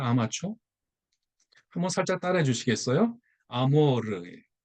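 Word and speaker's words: amor: 아모르. 그 어느 가수가 왜 뭐 아모르 파티라는 노래를 불렀잖아요. 그때 그 아모르. 네, 알 발음은 굴려야 되는데 뜻이 뭐냐면 사랑이잖아요.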